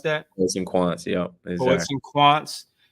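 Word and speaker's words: Poets&Quants: Is that how you pronounce that? Poets and Quants, yeah, exactly.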